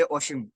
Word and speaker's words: Ashim: आपका नेम का प्रोनाउंसिएशन आशीम ही है ना, या कुछ और है? आप बता दीजिए एक बार। सर तो मैं हमारे यहाँ बंगाली में आ नहीं बोलते, ओ बोलते, ओशिम, लाइक ओ।